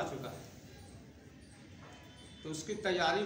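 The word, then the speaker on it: junta: थी वहाँ बर्मा में, जिसको जनता नहीं बल्कि उसका प्रोनाउंसिएशन है हुंता।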